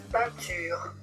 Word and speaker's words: peinture: Peinture peinture aussi avec une consonne. Le T, on va prononcer un pain. Ne prononcez pas le N.